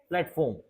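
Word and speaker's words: platform: temperature अब देखते हैं हम आर को थोड़ा सा साइलेंट करते हैं है ना जैसे प्लेटफार्म प्लेटफार्म देखो प्लेटफार्म सीधा आर को साइलेंट कर दिया हमने प्लेटफार्म अगर ऐसा बोलते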